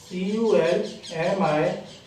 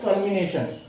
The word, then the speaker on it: culmination: In India and in the USA we pronounce it as culmination, but in UK it is pronounced as culmination. In UK they consider L as silent.